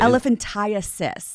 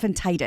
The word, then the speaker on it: elephantiasis: Elephantasis, not elephantitis.